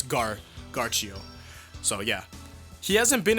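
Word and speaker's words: Ghiaccio: It's not gonna be Gacio, it's gonna be like, because Narancia has it's 2 C's I guess, but it'd be Narancia, so it's Garchio.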